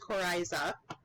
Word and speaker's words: coryza: congestion and discharge so nasal discharge and that's pronounced coryza sneezing coughing sore throat low-grade fever headache malaise